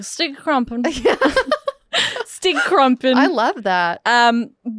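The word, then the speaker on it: Stygge Krumpen: His name was Stige Crumpet? Stige Crump. How do you say that? Stige Krumpen.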